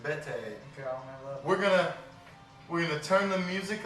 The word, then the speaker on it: Bedi: It's not pronounced any other way, just Bete.